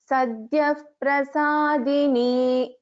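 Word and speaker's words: Sadyaḥprasādinī: There is a visarga of and followed by the pa. So in the first word of this verse, it should be pronounced as Sadhyav Prasadini.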